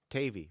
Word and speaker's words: Tavi: of Dave oh Tavi tavey rhymes with gravy that's that's what I